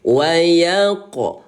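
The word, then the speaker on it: ويقدر: Qalqalah itu dibaca pantun. Jadi jangan dibaca wayaqdir tapi wayaqo. Ya, ko itu menandakan qalqalah atau pantulan. Wayaqdir seperti itu.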